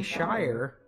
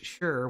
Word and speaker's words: Shire: so it's a dream i'll say shire when it's just word by itself but it's sure when it's attached okay cobalt blue